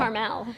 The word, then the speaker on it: Carmel: Caramel is actually the name of a car service here in New York, and it's spelled Carmel. But Caramel. That's Carmel.